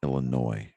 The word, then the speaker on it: Illinois: you know it's pronounced illinois the s is silent clearly yeah how do